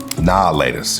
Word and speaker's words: Now and Later: Nah laters, you know, because we don't pronounce the full like verbiage here. We're not saying now and laters. No, they're nah laters.